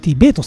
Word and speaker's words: VERT: うん、 VERT ベートさんと読みますね、すいま